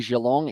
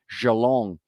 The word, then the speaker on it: Geelong: I like saying Geelong, even though I say it wrong. I say it as if it was a French name and it starts with a J, such as Anthony Geelong. But it's not Geelong, it's Geelong. Geelong.